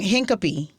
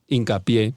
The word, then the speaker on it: Hincapie: Hincapie. Hincapie, but Hincapie. Oh, Hincapie. I speak Spanish. Hincapie. I didn't know. Hincapie. I didn't think of saying it in Spanish, guys.